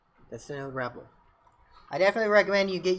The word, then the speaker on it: REPL: That's the Node REPL.